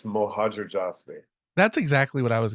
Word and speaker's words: Mohajerjasbi: yes okay can you pronounce your last name for me so when I say it wrong I have a real EXC good excuse yeah sure it's mojer jby that's exactly what I